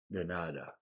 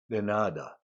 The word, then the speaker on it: de nada: 남자분이 gracias, 여자분이 de nada. 내, 너 중간쯤이 발음이고요. 나의 음이 높고 길어지는 발음입니다. de nada, de nada 이렇게 발음이 되죠.